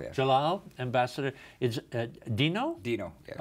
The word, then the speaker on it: Djalal: Uh ambassador it's pronounced Jalal. Jalal. Yes. Jalal.